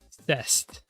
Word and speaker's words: c'est: in "c'est la vie" is written like that, "cest," but it's really pronounced "c'est," and the "st" are just there for vibes, I guess. They aren't pronounced at all.